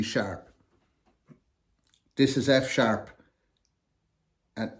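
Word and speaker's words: F♯: F hash is really pronounced F sharp the hash symbol and a typewriter is the closest we can get to the sharp symbol in scored sheet music so when you see G hash C Hash D hash you really need to say G sharp C sharp D sharp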